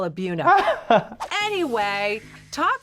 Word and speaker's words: Buena: You mean like Buena? Everybody pronounces it Buena, and we always have to say, oh, we call it Buna, but I'm pretty sure it's Buena.